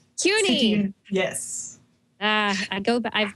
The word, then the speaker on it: CUNY: much for having me it's not SUNY by the way it's CUNY CUNY yes uh I go